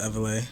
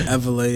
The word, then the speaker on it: Evela: Everlay. That's how you say his name. Yes, it's Everlay as in like revelation.